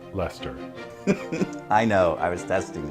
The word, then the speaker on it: Leicester: also known as the Earl of Leicester it's pronounced Leicester I know I was testing you Robert